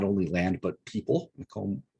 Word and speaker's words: Macomb: only land but people Macomb Macomb as we would pronounce his name now was was one of